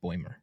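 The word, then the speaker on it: Bäumer: So, so I did look up the pronunciation. It is Bimer.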